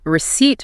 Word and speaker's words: receipt: And that P silent.